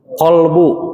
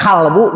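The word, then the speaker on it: قلب: Kalau yang dimaksud dengan hati itu adalah kolbu, pakai kof. Tapi kalau maksudnya kolbu tapi nyebutnya kalbu, di dalam kalbuku, jadinya apa itu? Jadi dogi ya, jadi dogi.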